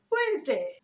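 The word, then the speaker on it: Wednesday: ওয়েডনেসডে, ওয়েডনেসডে, ওয়েডনেসডে, ওয়েডনেসডে এভাবে না, ওয়েডনেসডে, ওয়েডনেসডে। মানে হচ্ছে ওয়েডনেসডে, ওয়েডনেসডে, কখন, এই কখনের যে হোয়েন সেটার সাথে এস যোগ করে উচ্চারণ করছি, ওয়েডনেসডে, ওয়েডনেসডে।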